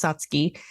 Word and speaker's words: Satsuki: spelled Satsuki right but like a lot of the Japanese words it's pronounced a little bit differently than it's spelled so it is pronounced satsky and it means um